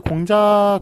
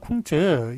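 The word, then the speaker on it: 孔子: 이게 공자가 있고 쿵즈, 공자는 이제 한국식으로 그렇게 한자음을 발음하는 것이고, 그 다음에 쿵즈, 요거는 이제 중국식으로 그렇게 발음을 하는 것이죠.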